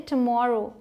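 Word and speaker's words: tomorrow: आते हैं ये देखिए इसे बोलते हैं टॉमोरो टुमारो अब यहां मैंने तू नहीं लिखा है क्योंकि जब आप जल्दी से प्रोनाउंस करते हैं तो आवाज जो है ऐसे निकलते है मोर ठीक है तो ऐसे बोलेंगे तो आप सही प्रोनाउंस कर पाएंगे मतलब आने वाला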